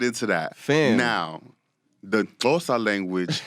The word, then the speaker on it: Xhosa: Now, the Xhosa language, you have to do it with the click.